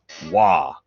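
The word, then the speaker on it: Waaagh!: Wah. It's pronounced at top volume, always spelled with at least 3 A's and an exclamation mark.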